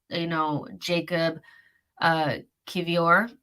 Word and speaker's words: Jakub Kiwior: you guys are looking for pronunciation and how it should be pronounced, this is, Jakub Kiwior is what people are saying, because I didn't know.